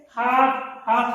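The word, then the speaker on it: half: और किसके पहले, हाफ माने आधा, हाफ में यल साइलेंट रहेगा, यल को नहीं पढ़ेंगे।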